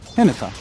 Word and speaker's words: Hinata: Hinata. Hinata's how you say it.